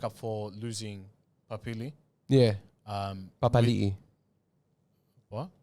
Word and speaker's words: Papali'i: They used to say Papali, but then he came out and said it's Papali'i.